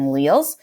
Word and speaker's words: alleles: It introduces these things called traits, and this word right here is pronounced alleles, although it kind of looks like alleles, or I don't know how you guys think that is pronounced, but it's alleles.